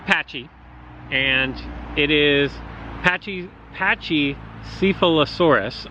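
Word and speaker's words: Pachycephalosaurus: and it is patchy patchy syphilis horas I believe is how you say it but for the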